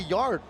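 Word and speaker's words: Yarde: You know, I think Yard could do much worse. Yard, than it's just Yard.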